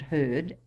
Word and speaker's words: heard: cat I perceived that he pronounced the word heard as if spelled with a double e hear instead of sounding it heard as is most usually